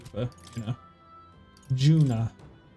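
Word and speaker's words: Junah: not you you know Juna I keep accidentally calling her Yuna my brain is pronouncing the J as a as a y essentially I bet there's treasure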